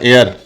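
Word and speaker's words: heir: की हो सकती है मतलब होता है इसमें ह साइलेंट है और क्या प्रनंसीएशन होगा इसका एयर तो एन की दुनिया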